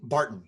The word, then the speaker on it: Barton: Burton. Okay, Barton. Sorry. Barton, not Burton.